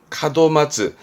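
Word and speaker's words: 門松: 발음은 카도마츠, 소나무를 마츠 하거든요. 카도마츠.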